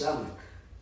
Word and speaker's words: Samek: my name was Samek. Samek? Samek. Could you spell that?